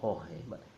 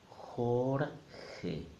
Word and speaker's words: Jorge: sound horn hey no Jorge Jorge two syllables then we have the